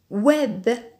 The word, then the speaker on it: web: D'autres mots? Web. C'est un mot d'origine anglaise. Le web, c'est-à-dire Internet. Web. Ou.